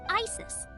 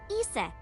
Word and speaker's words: Isis: horse's mom is named Isis but in ancient Egyptian it's pronounced closer to ISA or ASA H how do I